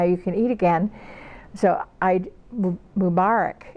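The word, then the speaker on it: Eid Mubarak: of Ramadan now you can eat again so I mom Arak it's how you say it or I know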